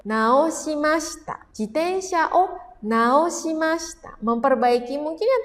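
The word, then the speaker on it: 直した: Kalau ketemunya sama hiragana dibacanya nao naoasta jitensyao naoasta memperbaiki mungkin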